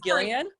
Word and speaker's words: Gillian: through both it is gillian sorry i'm sorry yeah it's it says the g is pronounced hard as in gill not jill oh i would not